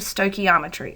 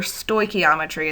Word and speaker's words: stoichiometry: balancing equations, that will lead into stoichiometry, or stoichiometry as some pronounce it.